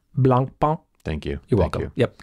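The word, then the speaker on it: Blancpain: uh Swatch and uh blun pwn let me just pause you right there yeah no you can't say it and not expect me to interrupt you it's actually pronounced Blan thank you you're welcome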